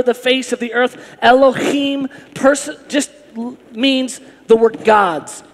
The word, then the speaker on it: Elohim: And you have to do that with your voice. If you don't, you didn't say it right. Elohim.